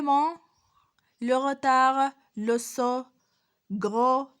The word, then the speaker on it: gros: On ne dit pas grosse ou bien grosse, non. On dit gros. Le S se prononce pas, il est muette.